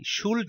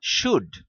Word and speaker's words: should: পরে যখন আমি ওকে বললাম SHOULD শুল্ড না শুড, তারপর ও আমাকে বলে তাহলে SHOULDER হওয়া উচিত শুডার।